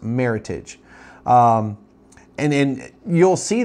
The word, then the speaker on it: Meritage: was uh picked and it's a combination of the words Merit and Heritage hence why it's called or it's pronounced Meritage um and then you'll